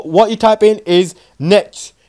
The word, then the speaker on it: netsh: So what you type in is netsh. It's weird how you pronounce it, but just how you type in it, it's N-E-T-S-H.